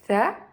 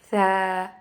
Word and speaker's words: ث: Là, ça fait Tha. Et là, ça fait Tha.